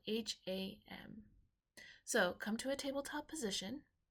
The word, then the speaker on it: ham: take three hams together pronounced kind of like an OHM but with an H all right so deep